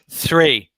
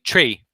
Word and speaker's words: three: So remember that tongue needs to come forward here. 3. When you're Yes, speaking, sir. you tend to say tree or tree. Yeah. So you're Okay. pulling your tongue back a bit.